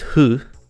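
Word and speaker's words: フ: Generally is pronounced hu, like F-U, don't take that out of context.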